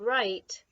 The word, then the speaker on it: right: And then remember the word right. Seems like you could pretty much spell it correctly just by tapping it out and remembering vowel consonant E. It's that W that doesn't make a sound that you have to remember.